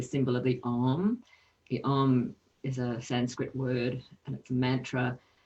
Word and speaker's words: Om: And it's pronounced with ah, oo, and the is pronounced with the tongue just behind the roof of the top teeth, that little fleshy part there.